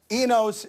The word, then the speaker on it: Enos: the way Dan left eNOS is how they're pronouncing it I don't feel bad